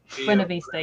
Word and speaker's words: Buena Vista: pronouncing that correctly. Buena Vista, yeah.